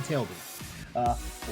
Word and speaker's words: Tailby: I almost said Tilby, I almost mispronounced his name. Stephen Tailby.